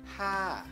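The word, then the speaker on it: ห้า: Saat kelas tinggi ya, si hohip ini kan kelas tinggi ya. Bertemu dengan maito menjadi siang to. Jadinya ha ha. Sekali lagi ha.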